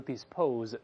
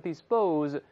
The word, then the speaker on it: dispose: 这要浊化了不要读 dispose 读成 dispose P-U-S-E 是放置那么 DS 是